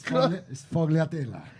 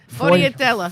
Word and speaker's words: sfogliatella: Sfogliatelle. Did I say it right? Close by. It's Sfogliatella. Sfogliatella.